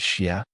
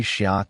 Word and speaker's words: 斜: In Tang pronunciation, it rhymed with "yao" and "gao". All three end-of-line words chime together. Today we'd read it as "she", but some teachers still say "shia" to keep the rhyme.